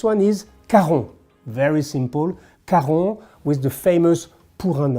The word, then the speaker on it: Caron: Caron with the famous Pour un homme, for a man, which is an iconic fragrance, so it's very easy to pronounce, Caron.